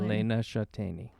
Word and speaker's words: Elena Shateni: My name is Elena Shateni. Yes. Save you time to pronounce my last name. Elena Shateni.